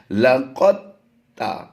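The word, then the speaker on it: لقد: Spelling में हिज्जे करते हुए हमने दाल को पढ़ना है, लेकिन जैसे ही हम रवा पढ़ेंगे, डायरेक्ट पढ़ेंगे, तो दाल को हम साइलेंट कर देंगे और काफ की अदायगी को ता से मिला देंगे।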